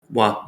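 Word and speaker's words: は: Now, the most common particle that I've seen talked about here is wa. Now, it uses the character for ha, but when used as a subject marker, it's pronounced as ha. Sorry, as wa.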